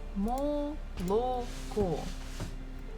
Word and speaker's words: молоко: we have learned it, молоко. This is how we write it, but the stress falls at the last syllable, so the first two O's we must read or say as A. Молоко.